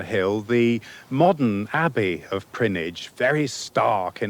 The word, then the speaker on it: Prinknash: Peter's Grange, the first home of the monks of Prinnage Abbey. Now, you won't actually find Prinnage on the map because it's spelt Prinknash, but it's in the Cotswolds just above Gloucester.